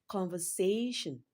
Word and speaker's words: conversation: Conversation. Conversation. Say is stressed longer and louder than other syllables in the word conversation. So say is the third syllable and it receives the stress.